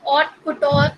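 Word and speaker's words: haute couture: इसमें H silent होता है, इसको हम ऑट कुटोर प्रोनाउंस करते हैं.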